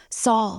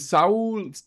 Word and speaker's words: Saul: Now, did Saul? I always say it like I knew a Saul. I always say it's Saul, but for some that's Spanish, right? Saul.